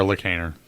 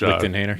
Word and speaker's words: Lichtenhainer: Unlike our Lichthainer, which Lichtenhainer.